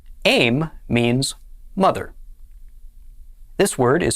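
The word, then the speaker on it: אֵם: with itsera under the aleph this word is pronounced aim aim means mother this word is spelled bait nun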